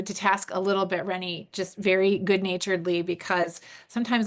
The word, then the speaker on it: Renee: Renee, is that how you say it? Rennie. Yeah. Rennie, sorry, yeah, thank you.